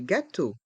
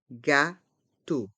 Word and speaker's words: gâteau: brioche une brioche des gâteau des g tau dans G il y a un accent circonflexe on prononce bien le son a gâau le E le